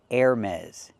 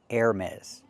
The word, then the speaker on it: Hermès: The designer brand is pronounced Hermès. Hermès. The H is silent. Air, like the air you breathe.